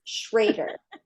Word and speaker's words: Schroeder: And I found out that last name rhymes with alligator. Yay! Schroeder, like an alligator.